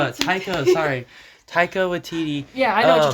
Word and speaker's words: Taika Waititi: Taika Waititi. Taika. Sorry. Taika Waititi.